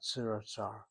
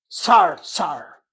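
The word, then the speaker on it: צרצר: been told, Professor Garber, the word in Hebrew for cricket is not siratzar. What? What is it? Tsar, tsar. Tsar, tsar. Was that mispronunciation? Hebronic? It's a different pronunciation. They have the same spelling, but I'm told, again, I take reservation. I am not the Israeli speaker. If I hear Tzirat Tsar, it doesn't make any impression on me. But I'm told the word is Tsar Tsar.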